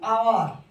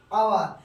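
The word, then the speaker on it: hour: যখন এইচ এর উচ্চারণ অ বা আয়ের মতো হয়, এইচ এর উচ্চারণ, এইচ তো আমাদের কি হয়?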